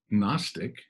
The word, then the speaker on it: gnostic: if you take agnostic if you were to take the a and then have gnostic the g is silent no gnosticism or gnosco